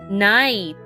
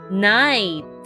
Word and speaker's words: knight: knots there are different kinds of knots night k n i g h t let's spell the word once more k n i g h t night read the words after me the KN has